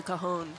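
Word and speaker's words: cajón: It's called a cajon. Cajon. It means big box. And it's spelled C-A-J-O-N.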